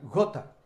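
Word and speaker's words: Goethe: filósofos alemanes bastante renombre creo que se pronuncia gota pero se escribe gote después mi profesor de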